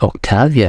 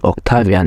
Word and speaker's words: Octavian: all real power for himself in 27 BC Octavia and Octavian oh my God it's a Turkish pronouncing okay in 27 BC Octavian assumed the title of Augustus becoming the first